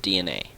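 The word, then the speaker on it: DeNA: That's D, lowercase e, capital N, capital A. Pronounced DNA.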